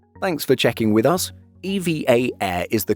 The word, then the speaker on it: EVA Air: EVA Air is the correct way to pronounce it. However, saying it like EVA Air is also acceptable, so don't worry about it.